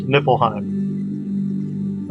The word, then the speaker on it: Niflheim: here but it's usually spelled with an F pronounced nipple Heim okay now in the Bible in the New